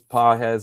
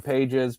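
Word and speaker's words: Pages: Andy Paes I know it's PZ. I call him Paes because he was so bad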